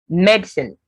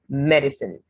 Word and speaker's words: medicine: american well almond amen then medicine with just two syllables in british sometimes you also get medicine but americans do more of medicine so with the three syllables then root british americans